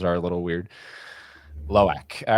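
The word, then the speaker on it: Lo'ak: Loak? Yes. Okay. All right. I just want to make sure. Sometimes the pronunciations are a little weird. Loak.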